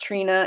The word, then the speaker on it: Trini: It's spelled Trini, and it's pronounced Trina.